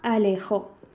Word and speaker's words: alejó: Como por ejemplo si tenemos la palabra alejó. Alejó, si la dividimos en sílabas, tenemos la A, tenemos le y tenemos jo. Y el golpe de voz, es decir, la sílaba tónica, la hacemos en jo.